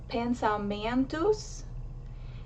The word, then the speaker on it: pensamentos: So for example, the word pensamentos, the syllable that's emphasized is the entus. It's the second to last syllable.